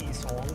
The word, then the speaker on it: Yi-song: Yeah, and then, yeah, it's pronounced Yi-song.